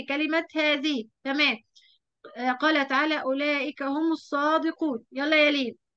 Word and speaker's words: أولئك: فيها الألف بعد اللام، الألف في أولئك بعد اللام تنطق ولا تكتب.